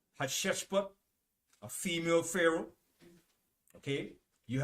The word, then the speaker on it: Hatshepsut: All right, Hatshepsut, a female pharaoh.